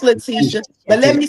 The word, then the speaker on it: Letitia: Letitia, is that how I pronounce it? I'll It's keep Letitia. It's Letitia.